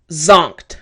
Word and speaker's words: zonked: what is sunk ah it's actually zonked alright so pronunciation after me zonked one more time zonk now zonked just means extremely